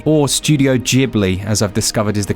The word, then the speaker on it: Ghibli: rpg but with work from the delightful studio ghibli or studio ghibli as i've discovered is the correct pronunciation which i find very upsetting this one